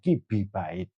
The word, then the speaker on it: KiB: Nah, untuk membedakan antara yang basis desimal dengan biner, maka yang biner ini simbolnya tidak ditulis KB, tapi KB bacanya kibait yang artinya kilo biner bait.